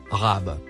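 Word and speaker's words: رب: Le mot en surbrillance jaune se prononce Rab.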